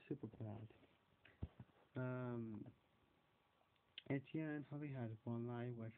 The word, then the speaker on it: Etienne: It's Etienne. Etienne. They say like eat, Ian, Etienne. That's it.